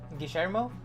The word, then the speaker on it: Guillermo: The last pronunciation was good. Guillermo?